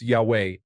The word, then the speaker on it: Yahweh: I let them know I am Roman Catholic and that it is pronounced Yahweh, not Jehov.